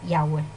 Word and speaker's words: Yahweh: Me estás nombrando las 4 letras y esas 4 letras se pronuncian Yahweh.